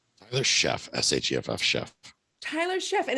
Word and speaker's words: Sheff: Tyler Sheff, S-H-E-F-F, Sheff. Tyler Sheff, and it's an S-H, not a C, everybody. So if you're looking him up, it is Tyler Sheff, S-H-E-F-F, and he is absolutely the guy of the cash flow guys.